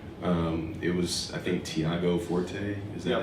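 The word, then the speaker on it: Tiago Forte: Um it was I think Thiago Forte is that how you say his name?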